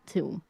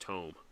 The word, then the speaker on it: tome: Uh she heads up to the guy reading the tomb. Okay. Uh he uh he Yeah, it's called pronounced tome.